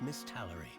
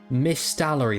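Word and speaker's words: Misthallery: Rumors of a curse then spread throughout Miss Tallery. Miss Stallery, that's how you say it.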